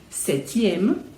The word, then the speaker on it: septième: vai acrescentar o iema, septième, huitième. Note que no septième eu não pronuncio o P, eu pronuncio o T. Septième, huitième.